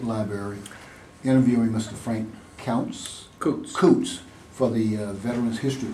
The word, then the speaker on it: Coutts: I'm Frank Coots, C O U TS. It looks like couch so it gets mispronounced, but um born in um Dearborn, Michigan and lived on Fernie.